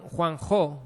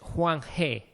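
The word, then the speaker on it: Huang He: por por eso no el nombre Juan Juan Jo no Bueno mejor pronunciado es Juan G Juan G vale el Juan G yo lo había aprendido como Juan Jo es el Río Amarillo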